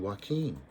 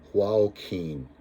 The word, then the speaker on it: Joaquin: there's a reward for a bandit called huao king i did my best to pronounce the strange name but that's me he laughed see didn't i tell you to put a j in my name i knew it was there i stared at the